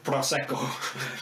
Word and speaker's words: Prosecco: Is it pronounced Prosecco? Prosecco, yeah. Prosecco.